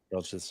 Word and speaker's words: Dulcich: Dulcich is pretty hot. Just the soft C with the CH is just like, it's nice.